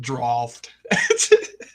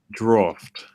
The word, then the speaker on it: draught: Yeah, DRAUGHT is how you spell it. But that ain't how you say it, boys. It's drought. Yeah, you're right. Look how I spelled it. Draft. Draft.